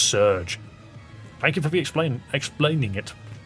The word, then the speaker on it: SRJ: The SRJ is pronounced Surge.